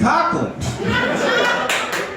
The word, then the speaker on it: Coughlin: By the way, guys, it's Coughlin. I've headlined 16 shows with you guys, but it's pronounced this.